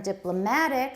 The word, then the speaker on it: diplomatic: countries good and from diplomatic stress on the third syllable the switch sorry the stress has shifted to right diplomatic relations diplomatic relations